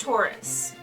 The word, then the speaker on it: torus: right it's a it's it's um pronounced taurus uh it's like that